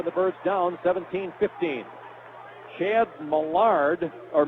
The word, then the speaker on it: Millard: first half for the birds down 17-15 Chad Millard or Millard is the way that's pronounced the transfer from Louisville he's a senior